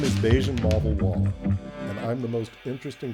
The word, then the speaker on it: Bajun Mavawalla: This week, the most interesting person you've never heard of is My name is Beijian Mal Wall and I'm the most interesting person you've never heard of because I can say my name backwards.